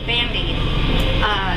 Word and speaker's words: Bande: Just something quick about me, about my name, Bandy. It's spelled B-A-N-D-E, and that's really not my real name, and I'm not going to tell you, that's secret, top secret.